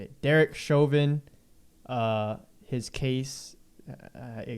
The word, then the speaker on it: Chauvin: name chauvin that's how you say it derek chovin uh his case uh i guess that's is